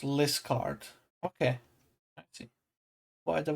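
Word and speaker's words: Liskeard: Cornish Town is pronounced Liscard.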